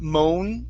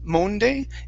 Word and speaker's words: Monday: up we have the word monday instead of moan monday it's a ma monday monday evening monday okay very